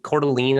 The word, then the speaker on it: Coeur d'Alene: been to coeur d'alene coeur d'alene i think is how you say it in idaho she she grew up